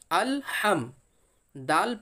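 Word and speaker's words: الحمد: এখানে অনেক ভাই পড়তে শুনেছি যে আলহামদুলিল্লাহ বলে। এখানে কিন্তু আলহামদুলিল্লাহ নেই। এখানে আছে কি হামজাহ লাম জাবার আল, হা মিম জাবার হাম, আল হাম, দাল পেশ দু, আল হামদু। তাহলে এটা কেমনভাবে পড়তে হবে? আল হামদু, এইভাবে পড়তে হবে। কেউ যদি পড়ে আলা হামদু তাহলে কিন্তু সেটা ভুল হবে।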